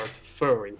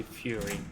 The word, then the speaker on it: furry: mean to be honest i literally used to say fury basically yeah like the [